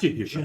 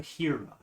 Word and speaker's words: Jaheira: It's not spelled like Jaheira, but I think it's pretty Harris, like from Game of Thrones. Oh. that one looks like it's Game of Thrones, Okay. but Yeah, not Jahira. Jaheira.